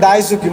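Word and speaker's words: 大好き: এই যে মার্ক করছি এটা না, এটার উচ্চারণ হয়েছে দাইসুকি মানে অধিক পছন্দ করা।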